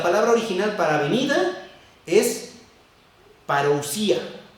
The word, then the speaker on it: parousia: Y la palabra original para venida es parousia, que tiene acento en la I, parousia.